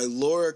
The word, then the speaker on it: Laura: last episode was ended with this song by Laura Cahen. I believe that's how you pronounce her name.